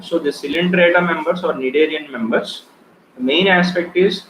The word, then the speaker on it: Cnidaria: phylum otherwise called as Cnidaria also. So why we call Cnidaria? It was clearly given that the presence of nidocytes, right, or nidoblasts. So the C is silent here, right?